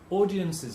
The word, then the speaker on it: audience's: Audience's needs. Because everything that ends in S, extra syllable in the apostrophe S.